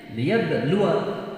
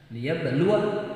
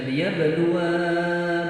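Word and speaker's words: لِيَبْلُوَ: Ada alifnya kan sesudah wawu, tetapi alif itu tidak boleh menjadi tanda mad atau tanda panjang. Dia harus membacanya liyabluwa ba'dakum bi ba'd. Liyabluwa ba'dakum bi ba'd. Tidak boleh dibaca liyabluwa ba'dakum bi ba'd. Bacanya harus pendek.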